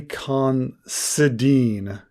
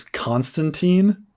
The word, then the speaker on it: Considine: Oh, Paddy Considine. I thought you'd said his name was Constantine.